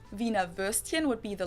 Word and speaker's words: Wiener: instead of penis yeah the German WB knows like an English V and it usually refers to the sausage Vina versed in would be